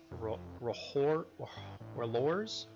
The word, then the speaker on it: R'hllor: I believe the pronunciation is Rohor's trial.